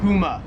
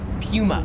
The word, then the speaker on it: Puma: Number three is Puma or as they would say in Australia, Puma.